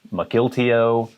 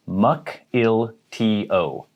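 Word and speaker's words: Mukilteo: of nowhere a lot of people might say mcgiltio or mcgill teo it is muck il t o mukel tio another town in washington michael teo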